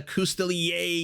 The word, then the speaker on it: Coustelier: I'm glad the pronunciation of the name ends in yay, because it very much is a Coustelier.